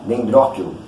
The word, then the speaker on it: Dendrochilum: Esse é o Dendrochium. Uns falam Dendróquilo. Eu estou falando como se escreve, né? Dendrochium. Mas como isso aí é em latim, o CH acaba se tornando um Q. Dendróquilo.